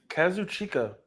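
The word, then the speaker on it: Kazuchika Okada: Kazuchka Okada. I said that right. Uh, that's how you say it. Kazu chica. Kazu. Uh, it's not like situating. It's felt like it. It's spelt like it sounds.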